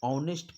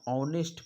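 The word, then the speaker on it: honest: नहीं किया जाता है उसी प्रकार एच का उच्चारण शब्द नेस्ट से नहीं किया जाता है यानी हम लोग ऑनेस्ट पढ़ते हैं लिखाता तो एच से है ऑनेस्ट एच ओ एन ई एसटी लेकिन हम लोग इसको ऑनेस्ट पढ़ते हैं तो जैसे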